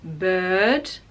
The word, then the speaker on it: bird: So in words like bird, so we don't use the r, we just say bird.